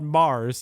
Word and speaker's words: M/A/R/R/S: And the only other thing I wanted to mention, Matt, because this group is called Mars, even though it's spelled differently. You know, you hear sometimes